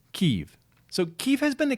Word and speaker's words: Kyiv: If you support Russia or the Russian language, then it's Kiev. If you support the Ukrainian people, then you use the Ukrainian pronunciation, which is Kyiv.